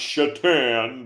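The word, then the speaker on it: Šatan: Satan and I know it was supposedly pronounced chatan but it was s a t an and again from the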